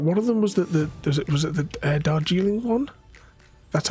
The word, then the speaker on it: Darjeeling: I think one of them was the Darjeeling one. That's how you pronounce it.